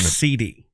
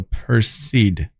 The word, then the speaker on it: Perseid: Per as in fur. C is in the word see, and then id ends with kid. So Perseid.